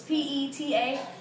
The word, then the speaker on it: PETA: It's PETA.